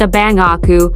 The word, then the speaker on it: Á Bao A Qu: by the name of bao aku is generally accepted as being pronounced a bangaku which means my elder